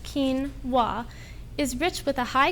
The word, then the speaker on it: quinoa: spelled q u i n o a and pronounced kinwa is Rich with a high quality protein as